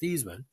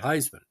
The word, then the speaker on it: Theismann: Theismann, whose last name was actually pronounced Theismann, recounted in 2007 there was Notre Dame publicity man Robert Valdeseri, who insisted that he change the pronunciation of his name to rhyme with Heisman, but he finished second